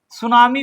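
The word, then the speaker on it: tsunami: सुनामी को अंग्रेजी में लिखते हैं। आगे लगाते हैं टी। टी साइलेंट रहता है।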